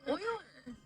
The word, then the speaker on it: Euler: I thought it was called Euler. I've heard Euler. No, please don't gaslight me. Don't gaslight me. Euler? It is Euler? Okay. Yeah, I always want to pronounce it Euler, but it is Euler. I've heard it enough now to remember that it's Euler.